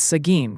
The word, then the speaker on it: Seguin: Folks are debating the pronunciation of Seguin, Texas. It's Seguin, confirmed by locals.